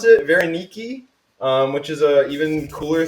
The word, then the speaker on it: Varenyky: make dumplings tonight um these are called varaniki's i think is how you pronounce it veronique which is a even